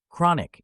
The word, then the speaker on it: chronic: many people suffer from chronic pain notice how the stress falls on the first syllable CRA understanding the meaning